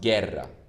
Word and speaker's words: guerra: next one is guerra we didn't pronounce the u here but because we pronounce gerra the e doesn't have